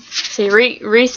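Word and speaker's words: Rhys: with weirdly pronounce names where is it Reese and Maurice sry s his race so it's like Reese and anyway um I do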